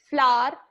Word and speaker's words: flower: I'll just explain you the difference between flower, flower, and flower. So there is nothing as flower. Flower is wrong pronunciation.